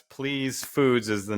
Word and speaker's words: Pleese: So like, and I just want to point out, it's Pleese Foods is the name of the business, but it's spelled slightly different.